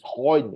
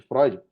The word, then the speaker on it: Freud: O Sigmund Freud, assim que se pronuncia o nome dele, né? Mas a gente vai chamar ele de Freud, ele traz dois princípios.